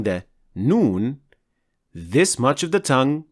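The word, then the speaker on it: ن: to lamb and N we pronounce noon from behind the lamb so noon is closer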